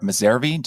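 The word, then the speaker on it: Messervy: it you met the company's founder Julie moir miseri am I pronouncing her last name correctly yes you met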